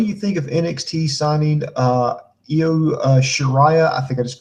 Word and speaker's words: Io: It's Io.